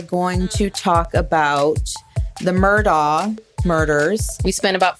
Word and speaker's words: Murdaugh: He was in court and they asked him to state his name and he said Alexander Murda.